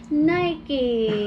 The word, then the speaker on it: Nike: By the way, Nike is pronounced as Nike. It's a name of a mythical Greek wind goddess of victory.